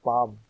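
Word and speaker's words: palm: میں نتھنگ ہی آیا۔ اسی طرح پام میں ایل خاموش سائلنٹ ہے۔ ہائی کا تلفظ ہے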